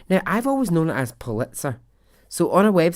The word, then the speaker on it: Pulitzer: week and it said it should be pronounced well this is how it told you to pull it sir like pull it pull